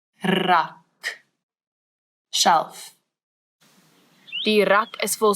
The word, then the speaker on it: rak: a little bit, and it's the rrr, as if your tongue is jumping up and down in your mouth. Rrr, rak.